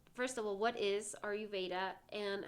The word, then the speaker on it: Ayurveda: And so for everyone listening out there, so Rocio does, and I might mispronounce this wrong, Ayurveda? Yeah, it's Ayurveda.